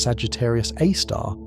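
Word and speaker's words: Sagittarius A*: This is Sagittarius A, pronounced Sagittarius A star, the super massive black hole at the center of the Milky Way galaxy.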